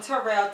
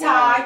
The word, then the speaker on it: Tyrell: like my son, and people keep trying to call him Tyrell, T-E-R. I'm like, no, it's Ty, T-Y-R-E-L-L.